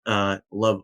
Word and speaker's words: LOVB: League One Volleyball, LOVB, or Love Volleyball as they say. I don't understand why they pronounce it Love Volleyball.